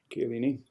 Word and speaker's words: Chiellini: And he has no interest in leaving Juventus because Chiellini, how do you pronounce his name? Chiellini.